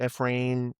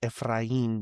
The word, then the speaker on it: Efrain: Everyone pronounces it Ephrain. Ephrain, but the correct pronunciation is Spanish. So, it's Ephrain with a roll in the R.